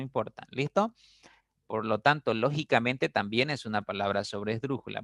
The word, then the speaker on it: lógicamente: explíquemelo Okay lógicamente no lógicamente a veces pronunciamos esa palabra Sí entonces lógicamente si ustedes analizan tiene eh cinco sílabas y la mayor fuerza está en la quinta sílaba listo quinta sílaba no